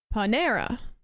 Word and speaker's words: Panera: Palmera Palmera Palmera um emphasis on the second syllable Panera I do Accent on